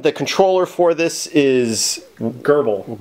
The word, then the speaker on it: grbl: controller for this is herbal herbal is how we're saying it we know if that's actually how you say it pretty close so it's grbl and so